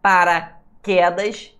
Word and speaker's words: paraquedas: Paraquedas, não tem acento não, tá, pessoal? Não existe acento em paraquedas, né? O queda, é a sílaba mais forte.